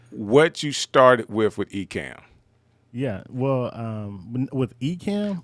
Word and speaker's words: Ecamm: hang out with us today this is the ecam behind the stream set up like did i